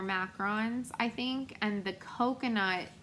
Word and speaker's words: macaron: cajun um like patisserie these are not macaroons they're macarons i think and the